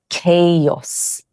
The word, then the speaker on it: chaos: Actually, the correct pronunciation is chaos.